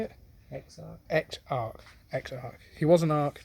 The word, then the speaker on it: Exarch: Not even the Echarch. Not even the Echarch. No. Echarch. How do you say it? Exarch.